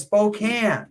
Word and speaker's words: Spokane: He says Spokane.